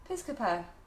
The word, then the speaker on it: Piscopo: Is it, how do you spell it? S-P-I-S. Yeah. C-O-P-O. Piscopo.